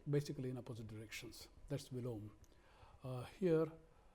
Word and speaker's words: Viloma: That's Vilom. Here, people pronounce it as Viloma because last A is always pronounced here, but actual pronunciation is Vilom.